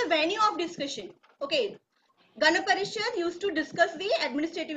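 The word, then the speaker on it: Gana Parishad: try Miss yes prad H that you are pronouncing uh in mistake repeat after me it's ghap parishad GH parishad Okay g a n a g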